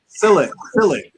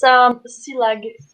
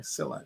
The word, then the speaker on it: Silag: Silik. It's Silag, and I don't blame you for not knowing how to pronounce it. And so it's Hungarian. It's Silag. Okay, Silag.